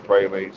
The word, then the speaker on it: pralines: I was saying pralines, they were saying pralines. So I asked her, and it's pronounced pralines, Hmm.